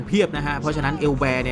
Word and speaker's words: Élber: ถาม ว่า รู้ จัก เอลแบร์ หรือ เปล่า บาง คน อาจ จะ ไม่ รู้ จัก ไหม บาง คน อาจ จะ กด แล้ว ออก เสียง ว่า แอลเบอร์ ด้วย ซ้ำ นะ ครับ ผม อ่า renault